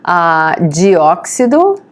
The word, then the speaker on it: dióxido: Dióxido. Notice how you spell it. The accent mark is on O because it's dióxido.